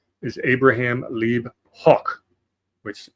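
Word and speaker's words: Hoch: So his birth name is Abraham Lee Hawk which I'm trying to do the German pronunciation spelled H Oc.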